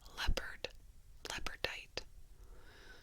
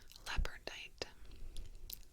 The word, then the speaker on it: Labradorite: I was told that it was called fossilized dinosaur bone, but come to find out that this one is called Labradorite. Labradorite. Just like the cat.